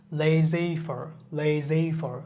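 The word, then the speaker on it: laissez-faire: এ আই এস এসই এফ এ আই আর উচ্চারণটা যদি আমরা দেখি লেজেফার লেজেফার এগুলো সাধারণত আনন ওয়ার্ডবা আমরা কিছু কিছু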